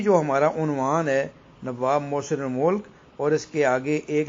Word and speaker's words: محسن الملک: دیکھا ہے کہ یہ بعض بچے ایسے ملک پڑھتے ہیں، بعض ملک پڑھتے ہیں، جبکہ درست جو اس کا تلفظ ہے نواب محسن الملک۔ اب دیکھیں کہ نواب